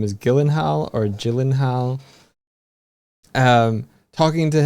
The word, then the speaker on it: Gyllenhaal: like, "So your surname, that's a Swedish name, right?" And and Jake's like, "Yeah, yeah. So wouldn't it be pronounced like Yelenhal?" I'm not doing it very well. where he does a very pronounced um he like heal um and uh Jake's like yes there's only two places in the world that my my name is pronounced correctly Sweden and IKEA.